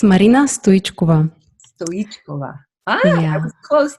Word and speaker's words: Stoichkova: It's Marina Stoichkova.